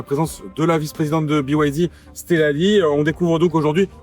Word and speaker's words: BYD: On repose rapidement le contexte he mais BYD donc qui se prononce à l'anglaise BYD.